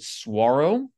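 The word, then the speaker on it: Saguaro: there's also National Park Saro National Park which by the way is also they they they call it they pronounce it swaro without the G in Tucson I found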